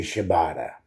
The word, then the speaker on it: Shibata: And then we go into the For the World Championship match between Chris Jericho, Hook, and Katsuyori Shibata.